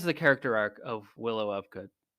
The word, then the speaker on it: Ufgood: character Arc of Willow of good it's in the name himself right the last name of of good right it's ufgood it's pronounced off good come on now Willow